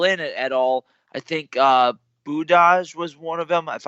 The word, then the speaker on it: Budaj: they've had fill in at all, I think Budaj was one of them, if I'm pronouncing that correctly. Budaj, yeah.